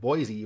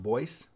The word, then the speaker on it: Boise: seat is boy City it looks like Boise but it's pronounced Boyce and it's also home